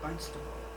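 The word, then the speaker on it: Barnstaple: Barnstable Devonshire England and you might think I'm mispronouncing it because it's spelled barn with a p but they actually say it almost with a B barnable and I know two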